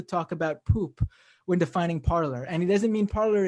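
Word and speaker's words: Parler: g from canada says isn't parlor pronounced parlay it's a french word meaning speak i believe they call it parlor but they say they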